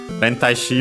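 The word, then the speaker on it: 連体詞: Rentai shi, by the way, accented on the ta, so on the tai technically. So yeah, before the she, and I suspect that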